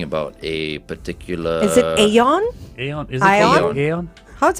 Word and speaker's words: AION: a particular is it Aon Aon is it a how's it pronounced a ion this is a Chinese car spell a i o n so it's AI as